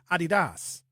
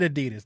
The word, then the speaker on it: Adidas: In fact, we're saying it wrong. The Germans say Adidas. That's how they say it.